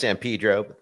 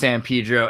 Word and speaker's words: San Pedro: Pedro the Californian human trafficking export capitals it's pronounced San Pedro this word it is pronounced San Pedro and thank you for taking the Slavic approach